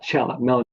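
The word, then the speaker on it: Meloncella: the it's just called melan Cella it's m e l o n c e l l a so they pronounce that Chella but yeah that's um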